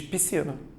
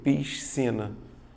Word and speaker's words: piscina: tenho SC mesmo cuidado quando você fala naturalmente você diz piscina duas letras fazendo um único som Mas você olhando para a palavra você tende a fazer o quê piscina é isso que não